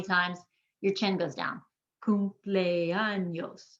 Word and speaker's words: cumpleaños: It ends in an S. We're going to emphasize the second to last syllable, and the E and the A are 2 separate sounds because they're both strong vowels. Cumpleaños. 4 syllables.